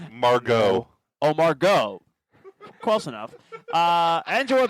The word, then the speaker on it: Margot: Gal Gadot, Margaret Robbie, Angela Bassett. Wait, did you just say Margaret? Margaret. That's how she pronounces it. Margot.